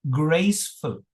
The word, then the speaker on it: graceful: It is, the pronunciation is graceful. Graceful. Slanted line. Graceful. It's not graceful, it is graceful. It's a schwa, okay? And schwa is a weak vowel sound, okay?